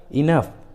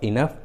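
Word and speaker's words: enough: जैसे रफ, कफ, टफ, इनफ, loaf, देखिए सभी इंग्लिश वर्ड्स में जी और एच एक साथ है और दोनों ही लास्ट में है, इसलिए जी एच का उच्चारण फ हुआ है, फ।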